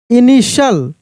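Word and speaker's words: initial: लोग partial I एन आई टी आई एल इनिशियल आई एन आई टी आई एल इनिशियल ई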